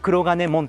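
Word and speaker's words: 黒金門: 正門、はい、鉄の門と書いて黒金門というふうに読むんですけ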